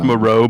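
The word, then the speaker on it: Marrow: or Maro it's Maro Maro okay Maro it's pronounced Maro but it's spelled Mero that's actually a good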